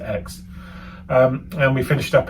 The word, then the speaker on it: Aix: spelled a iix but you just pronounce it X um and we finished